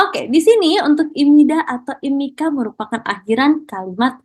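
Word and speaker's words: 입니다: Jadi di sini cara bacanya bukan ibnida, teman-teman. Cara bacanya adalah imida.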